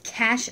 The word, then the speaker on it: Cache: I'm pronouncing it right I believe it's cash Alaska CA CH e Alaska it is a slouchy